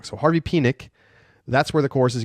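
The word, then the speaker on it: Penick: that the Tex and pronunciation of the name the namesake of the course is Harvey pck not penck so I've been saying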